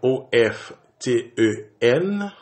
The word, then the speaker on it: often: Et par exemple, nous gen OF TEN côté que T a li muette, moi prononcer often comme si T a pas la même du tout. On dit often.